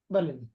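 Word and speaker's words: ب: লাম ফা জের আলিফ আলিফ এটা হলো আলিফের উচ্চারণ আলিফ জি বলেন আলিফ আলিফ আলিফ আমার সাথে উচ্চারণ করেন আলিফ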